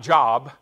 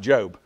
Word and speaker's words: Job: you come to the book of job not job i know it's our word for job but it's actually pronounced job so so we've got the the book of